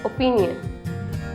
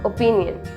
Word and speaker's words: opinion: I have an opinion. It's not opinion. It's opinion. हम O को A pronounce करेंगे.